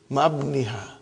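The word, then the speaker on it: مع ابنها: But remember, Ibni has got hamzatu wasal. We cannot pronounce it. How will you say? Ma'abniha.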